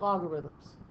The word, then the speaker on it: logarithm: we're really looking at logarithms. I capitalized the A because there's a syllable there, logarithm. I don't pronounce it as well as I should, but I'll emphasize it there.